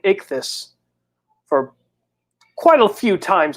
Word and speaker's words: Ichthy: and also they also know how to pronounce my name correctly too because a few people are now struggling to even say my name even when they watch my show I I don't understand I didn't have plenty commercial breaks on my first channel saying ik this for quite a few